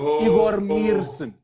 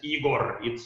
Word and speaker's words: Igor: you know but in in reality uh my uh name is pronounced with the very very soft last letter okay very very soft plaster which is igori yeah in fact